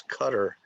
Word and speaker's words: Qatar: in qatar okay and you can also pronounce this cutter it depends um okay what about